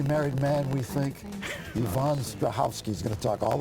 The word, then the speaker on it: Strahovski: I always say it's like sneezing, so you have to kind of get the first syllable out, like a clear your sneeze, throat. and the rest is easy.